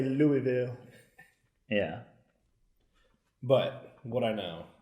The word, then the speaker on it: Louisville: but it's made in Louisville one of the most fun cities to say yeah but nobody knows how to say it correctly yeah it's not Louisville its Louisville now you know that passes